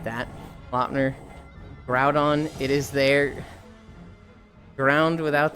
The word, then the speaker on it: Groudon: They're like Groundon. Groudon, you idiot. It's Ground. I was like, cuz they are like the ground Pokemon like crouton but with a G and a D.